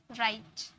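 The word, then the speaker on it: write: अब यहाँ पर W प्रोनाउंस नहीं है, यहाँ पर W साइलेंट है, आर से स्टार्ट हुआ, राइट।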